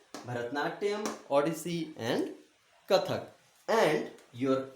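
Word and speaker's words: Bharatanatyam: Once again, I'll spell it for you because it's long. Bharat. Bharat. Nat. Nat. Yam. Yam. Bharatnatyam.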